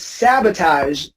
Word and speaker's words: sabotage: It's the first one. It's sabotage.